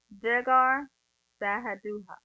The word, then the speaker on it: Jegar Sahadutha: Anyway, so they did all of that, set up a pillar, and the band called it Jegar Sahadutha. Sahadutha. Sahadutha. That's how I said it right. Jegar Sahadutha.